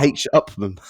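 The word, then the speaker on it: H. Upmann: It's a H. Upman.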